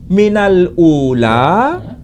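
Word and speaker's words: مِنَ الْأُولَىٰ: Minal ula, ini dibaca minalula.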